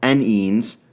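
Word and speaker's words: enynes: containing both double and triple bonds are called n-ends or e-n-y-n-e-s if you want to spell that out numbering an ending chain starts from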